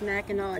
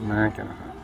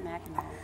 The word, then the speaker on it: Mackinac: No, it's Mackinac. It's why is it? It looks like it says Mackinac. I know, but it's pronounced Mackinac.